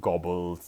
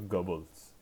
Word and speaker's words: Goebbels: his name is okay I don't know the German pronunciation but it is not gobbles it he does not gobble his food is Joseph Goebbels okay so of course